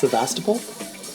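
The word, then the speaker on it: Sebastopol: It's pronounced Sastapole, California.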